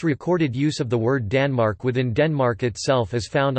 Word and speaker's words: tanmaurk: word Denmark in the form of accusative Tanmork, Danmark on the large stone, and genitive Tanmarkar, pronounced Danmarka on the small stone.